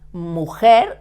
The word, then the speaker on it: mujer: The pronunciation in Spanish, the pronunciation of G with an I is ge. And mujer, the J and the I is the same sound, it's the same.